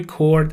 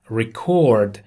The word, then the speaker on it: record: کلمه record اگر فعل باشه به این صورت تلفظ میشه و استرس رو بخش دوم میشه. record. و اگر اس باشه میشه record.